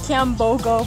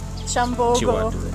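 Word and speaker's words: Kyambogo: So when we first got here, I was calling everything Chiwatuli or Kiambogo, but it's Chambogo or Chiwatule. So. Yeah, they don't like the k sound.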